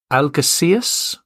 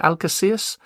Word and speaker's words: Algeciras: Now, both games will be played in, you're going to have to excuse my pronunciation here, Algeciras. I think that's how you pronounce it, Algeciras, in southern Spain.